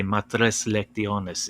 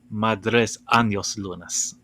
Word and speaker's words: matres lectiones: no sorry uh sorry he mispronounced it as uh madres anos lunas like spanish yeah oh gosh